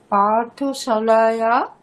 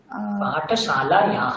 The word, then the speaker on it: पाठशालायाः: বয়ম পাঠশালায়া পাঠশালায়াহ, madam বিসর্গ উচ্চারণ করতে হবে, নাহলে ভুল হয়ে যাবে।